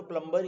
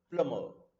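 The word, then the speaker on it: plumber: लिखा तो प्लम्बर ही है, बट प्रोनाउंसिएशन के हिसाब से इसे प्लम्बर नहीं बोलना. दिस इज बी साइलेंट रहता है और आर भी नहीं बोला जाता. से लाइक दैट, प्लमर, प्लमर.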